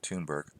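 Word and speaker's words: Thunberg: greta --the tune burke i keep want to say thunder but everybody pronounces it tune burke proclaimed quote successor of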